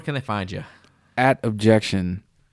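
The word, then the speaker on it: Objeckshun: At Objection. Everywhere, spelled phonetically. O-B as in boy, J-E-C as in Curtis, K as in Klondike, S-H-U-N. Objection.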